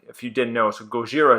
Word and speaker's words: Gojira: you didn't know so Gojira is actually the Japanese pronunciation of Godzilla and the ban Gojira